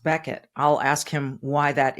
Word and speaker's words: Bequette: you see his name You' think it was Becket but it's pronounced Becket I'll ask him why that is you may